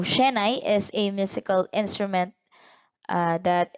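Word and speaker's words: shehnai: into the instrument next we have the shahani so it is an instrument borrowed from the muslims and it is a prominent instrument in north india so sorry wrong pronunciation so shenai is a musical instrument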